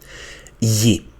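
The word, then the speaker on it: γη: So here this syllable will be v and here will be z and here will be ye which is the the earth.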